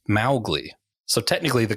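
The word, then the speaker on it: Mowgli: at the film specifically because they kept saying mowgly and it should be pronounced mly so technically the correct pronunciation is not the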